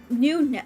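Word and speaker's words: GNUnet: It's pronounced NewNet. Oh, NewNet. Can I say GNU-net?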